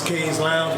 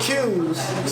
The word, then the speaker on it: K's Lounge: name of it is K's Lounge. It all started in 2007. So hold on. It's not Q's, it's K's. It's pronounced K's.